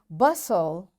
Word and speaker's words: bustle: Fasten, castle or castle, often, whistle, soften, hasten, bustle, and gourmet. There are different words, but in all these words, T is silent.